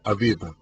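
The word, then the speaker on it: אביב: el mes del abib en hebreo se pronuncia abib noten que a veces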